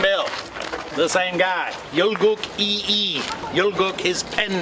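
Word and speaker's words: Yi I: the same guy yook e e yook his pen name e his family name and E is also his personal name it's a different Chinese character but they're both pronounced e all right Lee in other words by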